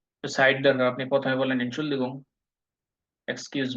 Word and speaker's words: Entschuldigung: প্রথমে বলেন এনশুলদিগুং, excuse me বা ফেরসায়ং, এটার মানে হলো এনশুলদিগুং, এটা একটা সমার্থক শব্দ।